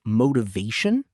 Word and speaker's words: motivation: The word motivation has the stress on the third syllable.